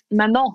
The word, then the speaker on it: Manon: Manon rhymes with Tamin. And salmon and contamination.